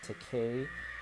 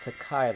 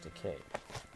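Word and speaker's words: Takei: Keep in mind, his name is George Teay. It rhymes with okay, not Teai like you hear with some other people trying to pronounce his last name. That's totally wrong, but it's George Teay.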